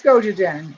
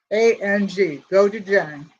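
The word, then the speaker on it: gochujang: i gotta take this chocolate so this is goji jen it's g-o-c-h-u-j-a-n-g go to jain okay and i heard somebody pronounce it that's why i know how to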